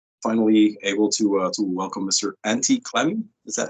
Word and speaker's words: Antti Klemi: Antti Klemi. Is that how you say it? It's quite, yeah, Antti Klemi.